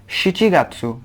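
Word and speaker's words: 七月: तो यहाँ पे शी गात्सु, गोगात्सु, रोकुगात्सु, शिचिगात्सु, यहाँ पे शिची होता है, नाना नहीं शिची, तो शिचिगात्सु। तो और यहाँ पे हाचिगात्सु,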